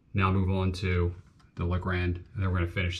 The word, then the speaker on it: Legrand: going to put in the legrand is how you say it legrand uh switch and we're